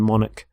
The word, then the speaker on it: monarch: So the CH there makes the K sound, monarch.